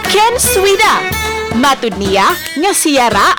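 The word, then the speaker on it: Knswda: Apan kun i-pronounce, Ken Swida.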